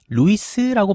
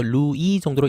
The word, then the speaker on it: Louis: 이때 루이스라고 발음하지 않길 바랍니다. 프랑스에서는 끝에 있는 자음이 발음되지 않습니다. 그래서 루이 정도로 읽으면 되겠죠.